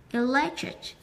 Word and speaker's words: electric: Electric. cái này trọng âm nó rơi vào nghĩa thứ hai, chúng ta đọc nó cao hơn một chút nhỉ. Electric, electric, vẫn có âm k ở cuối nhá.